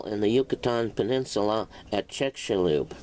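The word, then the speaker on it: Chicxulub: the asteroid fell in the Yucatan Peninsula at chechalube pronounced check shall Lube Mexico the hypothesis is named after the Father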